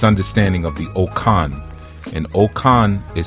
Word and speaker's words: Okan: And what I wanted to speak about this evening was uh this understanding of the okan and okan is spelled o k a n.